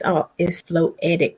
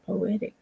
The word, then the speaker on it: floetic: It's floetic poetry that Big Woo does on Friday nights. I kept saying poetic poetry. Wait a minute. Floetic poetry. This is what they do. So I kept saying it wrong, but I tried to